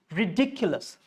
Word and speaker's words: ridiculous: Then you have, a lot of people say very ridiculous or very ridiculous. Wrong. Ridiculous. That's how you are breaking it. That's not the rule. Rule is ridiculous. Ridiculous. So dick should be clear.